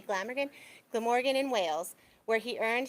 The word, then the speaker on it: Glamorgan: um a graduate of the University of Glam I'm sorry if I'm gonna mispronounce this. Is it Glamorgan? Okay, I was gonna say Glamorgan. Glamorgan in Wales where he earned his degree in theater, media, and drama.